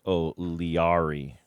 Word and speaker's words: O'Leary: I was saying his name wrong. It's Chris O'Leary.